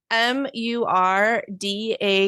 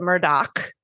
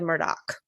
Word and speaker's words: Murdaugh: before I get started um he the name is spelled m Ur d a u g but they pronounce yeah but they pronounce it Murdoch with a oh not Murda no that's what